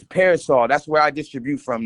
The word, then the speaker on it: PRSL: It's Parasol.